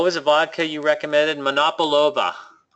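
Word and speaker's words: Monopolowa: a vodka you recommended monop overa it's uh here I I'll write it m o n o p o monopo and the W's in Polish are pronounced as a v not monova and uh actually was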